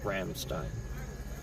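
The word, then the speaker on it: Rammstein: and stuff is German, they pronounce things with their Austrian accent. I think Till Lindman is Austrian. So they say Ramstein. It's their band. So since they say it that way, I'm gonna say it that way.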